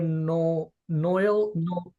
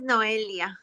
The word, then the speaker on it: Noelia: Noel, I'm gonna say it wrong. Dr. Noel. Oh, hi, doctor. How are you? Thank you for giving your time. My name is Noelia.